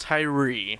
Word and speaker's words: Thuirer: So it's pronounced Thuirer.